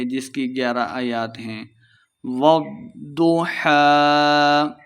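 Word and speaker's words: والضحى: کی 11 آیات ہیں۔ والضحیٰ، ضاد مشدد ہے، واو کو ضاد کے ساتھ ملا کے پڑھیں گے، ضاد کو موٹا پڑھنا ہے۔ والضحیٰ، وقف کر دیں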